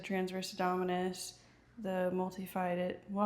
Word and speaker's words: multifidus: It's our pelvic floor, our transverse abdominis, our multifidus, and we said transverse abdominis, the multifidus.